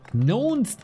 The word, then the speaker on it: knownst: Knownst is a weird syllable, to be honest. Knownst looks like it should be 2, but it's just 1.